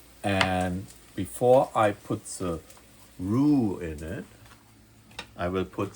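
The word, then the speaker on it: roux: It's actually pronounced rue, not row, the French word for our butter mixture with flour to thickening our gravy or sauce.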